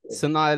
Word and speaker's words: Sanaa: Sana Lathan. I said it. Sanaa Lathan.